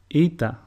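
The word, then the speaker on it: Ήτα: Eta, which is pronounced E, and a sample word is ήλιος, which means sun.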